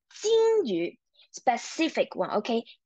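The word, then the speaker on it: 金鱼: Okay, you sure when you are pronouncing 鱼 , remember, you have to level up your voice, okay? 金鱼 , 金鱼 , very good.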